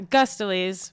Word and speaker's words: Guistolise: Guistolise, which is Guistolise. not at all the way that it is spelled.